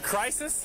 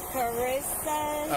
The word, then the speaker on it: Carissa: Is it crisis? That's it, because I'm in a crisis right now. I know. Is it? How do you say it though? It's Carissa.